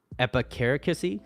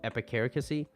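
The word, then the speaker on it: epicaricacy: I think the English word for that is epicare kissy so let me let me spell that out for you epi c-a-r -i-c-a-c-y so epicaricosee schadenfreude German word pleasure derived from someone uh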